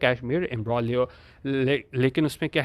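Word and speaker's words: imbroglio: एम्ब्रोलियो होता है हमारे पास, एक तो पहली चीज़ तो ये है कि इसमें जी साइलेंट होता है, इसको हम एम्ब्रोलियो पढ़ते हैं।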